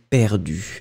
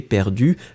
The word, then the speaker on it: perdue: Alors, Denora qui nous dit que cette jeune fille pense qu'elle est perdue.